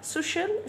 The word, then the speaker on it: social: مادة الدراسات الاجتماعية social studies social studies social studies. خلي بالك ان السي اي اول ما يجي وراها حرف متحرك على طول هنطقها ش، تمام.